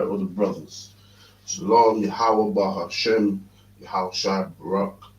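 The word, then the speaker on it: שלום: When you read it in the Hebrew, it says there is a wa, but it's silent. It's shalom. You understand?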